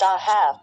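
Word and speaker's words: אהב: According to Bible and Archaeology, the University of Iowa, the Hebrew verb ahav, pronounced ahav, with the final bet pronounced as a v, is a biblical Hebrew word meaning to love.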